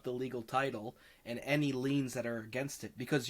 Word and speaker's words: liens: couldn't they afford it i always hate this word and i don't know how to say it but liens liens liens yeah yes so you gotta watch for liens i always i every time i see it i say it wrong but it leans yeah yeah so big make